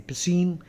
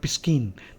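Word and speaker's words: piscine: according to Pine biology p i s c i n e Pine uh not piskin Pine the sea is silent is the adjective for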